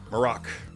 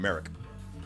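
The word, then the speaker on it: Marrok: of Ahsoka is that we actually heard his name pronounced and the inflection is on the uh is on the latter half of the name I didn't expect that I was calling him Merrick but it's morocc o I think I get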